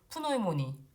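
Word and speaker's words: Pneumonie: 여기 독일어는 피 여기는 앞에 묵음이 없이 다 붙이거든요. 그래서 푸노이모니, 뉴모니아 그리고 뭐 또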